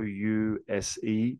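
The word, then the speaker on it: youse: for ozzy lingo p use y o u s e pronounced y-e-w-z use can you use it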